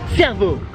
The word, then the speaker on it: servo: Et en australien la station service ça se dit servo. Cerveau, oui comme le cerveau sauf que ça s'écrit pas pareil.